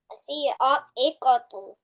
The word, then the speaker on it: الصاعقة: and I am pronouncing the following letter with a shadda.